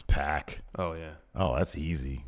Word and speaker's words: Pac: And Pac. Yeah, you'd say it exactly. I told you how to say my name. Yeah, it's Pac. It's Pac. Pac.